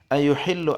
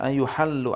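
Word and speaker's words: يُحَلُّ: Ayuhillu anhu au yunsharu, ya. Au ya, ayuhallu, ini maaf bacanya ayuhallu anhu au yunsharu.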